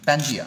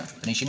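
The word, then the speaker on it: Pangaea: पेनिशिया बोला जाता था, ठीक है ना, पेंजिया, पेनिशिया नहीं, सॉरी, पेंजिया।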